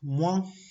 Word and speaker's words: moins: Tenemos la combinación OIN que se pronuncia como one, como decir Juan pero sin la J, one. Y el ejemplo de esto es moins.